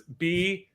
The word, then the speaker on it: Buecher: So it's Buecher.